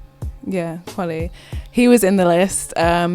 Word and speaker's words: Kweli: Kweli. Yeah, Kweli.